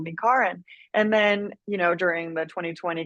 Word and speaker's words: Kar: But my name is spelled like the traditional Karen, and my whole kind of like life growing up, and it's pronounced Karen.